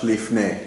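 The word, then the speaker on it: לפני: A lot of times you'll see it spelled with a PH, lifnei, like this, simply like that, lifnei.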